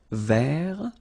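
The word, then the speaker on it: vert: rou remember rou so masculine form don't pronounce the final ver feminine form ver so listen carefully I don't say t but it's ver ver okay so as usual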